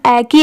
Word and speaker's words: echo: तो देखिए इसमें पढ़ते टाइम एच साइलेंट होता है, इसे क्या पढ़ा गया है, ई की साउंड ए की आ रही है और CO को, तो इसे क्या पढ़ा गया है एको।